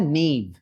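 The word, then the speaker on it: knave: के साइलेंट होता है इस वर्ड का, प्रोनाउंसिएशन होता है नेव.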